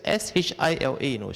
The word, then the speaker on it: Shila: Sila, S-I-L-A, technically is a Pali term. But in Sanskrit, they spell it as S-H-I-L-A, Shila. The I with some acronym at the top there.